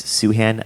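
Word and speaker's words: Sufjan: ufj an Stevens um it's not pronounced thin Stevens it's suhan I don't know why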